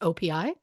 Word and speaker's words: OPI: Oh, it's literally just pronounced OPI?